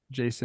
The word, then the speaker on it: Jasson: If it's Jason, I apologize for putting the emphasis on the wrong syllable. Maybe I'm just thinking of Jason Derulo.